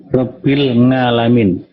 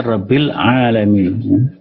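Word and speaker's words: رب العالمين: Ya, orang Jawa misalnya membaca ain itu pakai ngain. Rabbil ngalamin. Harusnya Rabbil alamin. Ya. Itu salah, ya. Pengucapan Alhamdulillahi Rabbil ngalamin itu salah.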